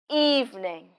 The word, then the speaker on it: evening: good evening do you know which words we stress evening that's right evening so we say it louder and longer now listen carefully good